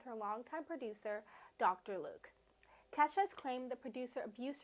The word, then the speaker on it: Kesha: and that is unshockingly Kesha, or as Glee once pronounced it, Key $, ha.